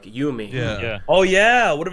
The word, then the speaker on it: Yumi: D4, it's actually pronounced Yumi. Thank you. I was just going to correct them. Yumi. Yumi. It's not Yumi. Yumi. Like picture the U as two O's and then the I is an E.